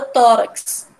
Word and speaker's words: tórax: a gente entende, né, que o tó é o mais forte do que o rax, né?